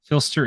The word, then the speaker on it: Phlster: Filster is spelled Phlster.